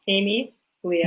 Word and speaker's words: Amelia: I'm G to try Amelia is that correct and if it's not please tell me Amelia Amelia it is Amelia it's Amy Leah yeah Amy Leah thank